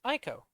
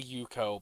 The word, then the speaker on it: Aiko: i call you um my name is aiko i'll remember that it is spelled a-i-k-o i can only imagine i will say i was tempted to say yuko but i decided against it yeah there's a little